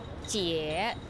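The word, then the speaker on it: 姐: The right hand side of the character give you the sound, pronounce jie.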